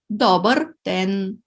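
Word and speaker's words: добър ден: But in this case, we put the stress on the first syllable, dober, then добре съм.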